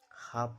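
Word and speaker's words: half: एल का उच्चारण नहीं होता है। हाफ पढ़ा जाता है।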